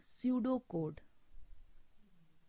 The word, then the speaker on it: pseudocode: pseudo code it spells p s e u d o c o d e in this word p is silent and we will pronounce